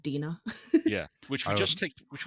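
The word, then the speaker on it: Dinah: I always I always I never heard it said so I always pronounce it Dena yeah which just take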